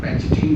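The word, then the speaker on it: pachytene: इसका दूसरी होती है, लेप्टोटीन के बाद होती है जाइगोटीन, फिर होती है पैकेटीन, या कुछ लोग पैकेटीन भी प्रोनाउंस करते हैं इसको, पैकेटीन, ठीक है।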